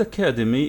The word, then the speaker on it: academy: phonetic alphabet anyway here the word academy is four syllables four syllables which one is stressed